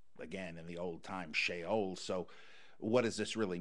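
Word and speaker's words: Sheol: his uh going down the shot uh to shaol in ignominy with the that's how you say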